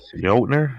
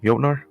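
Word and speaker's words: Jötnar: Oh, Jotner, I'm guessing. Jotner? Let's go with that. I trust your I trust your lingo. I know the J is silent. So it's like yo.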